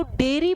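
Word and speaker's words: dairy: इसको डायरी pronounce करोगे। इसको डेरी प्रोनाउंस करोगे।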